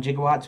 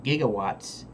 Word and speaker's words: gigawatts: it's just an acronym but we hear 1.21 jigowatts what do you think of right you think